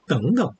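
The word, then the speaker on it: 等等: 덩자가 제3성이라서 삼성 글자가 두 개만 앞에 있는 제3성은 제2성이 되잖아요. 그래서 덩덩 이렇게 얘기합니다.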